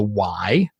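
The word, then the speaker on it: ไหว: In Thailand, it's called the Y. We spell it W-A-I.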